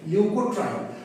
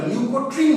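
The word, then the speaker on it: leukotriene: এটা মুঝলাম প্রথমে কি শিখবো বললাম লিউকোট্রাইন কাকে বলে লিউকোট্রাইন অনেকে না এটাকে ভুল করে ভুল উচ্চারণ লিউকোট্রিন বলে উচ্চারণটা কিন্তু লিউকোট্রিন না উচ্চারণটা লিউকোট্রাইন কেন লিউকোট্রাইন সেটা বুঝিয়ে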